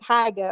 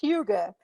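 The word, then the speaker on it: hygge: company called Huga Abode now it's spelled differently though it's h y g g e it looks like haga or hii but it's Huga Huga Abode which is based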